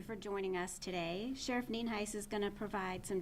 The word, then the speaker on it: Nienhuis: my name, so it's Nienhuis, and it is pronounced Nienhuis, and as you know, I'm the Sheriff of Hernando County.